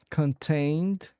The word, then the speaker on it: contain: Contain contained. Yes, those sound great. Uh, the word contain is pronounced with the emphasis on the second syllable. So, it's contain and contained follows the same pattern.